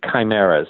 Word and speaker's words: chimeras: experiments to create big human and cheap human chimeras now that's spelled CH imer a this is not your